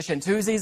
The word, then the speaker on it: Chantoozies: i found out that pronouncing your name incorrect is actually how the group name came about yes that's correct yes yeah it's the french for female singer female singer shanters but i think it